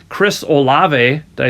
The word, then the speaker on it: Olave: but um and I'm going to say his name wrong Chris olave did I say that right yeah uh yeah